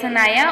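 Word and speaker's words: Sanaya: अगला नाम है हमारे पास सनाया सनाया की स्पेलिंग है एस ए एन ए वाई ए सनाया और सनाया नाम के माइने है पूरी चीज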